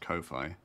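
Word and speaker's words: Ko-fi: how it's pronounced I have learned it is pronounced Kofi which is dumb should be coffee um my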